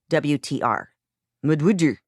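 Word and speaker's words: MUD\WTR: And I have to say this again, and I always say this, it's not w a t e r, it's wtr mud. That's why I say it like that.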